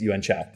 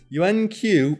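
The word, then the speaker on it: Yuen Qiu: this lady's name, and Stephen Chow himself says it's Yuan Chow. Because we found the interview where he's talking about it, some white dude goes, Yuan Q, and he's like, Chow.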